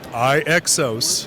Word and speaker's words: iXOS: How do you pronounce it? iXOS. iXOS.